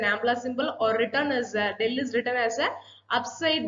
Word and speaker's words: del: Here del is an ampla symbol, or written as del is written as a upside down triangle. We pronounce as a del.